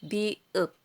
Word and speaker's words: 비읍: Binibigkas itong mium. Ito naman, biup.